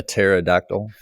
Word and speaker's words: pterodactyl: type of vulture a pterodactyl those are extinct Terry and I can I can see why you would pronounce the P given that your name is the first half of the dinosaur pterodactyl yeah did that confuse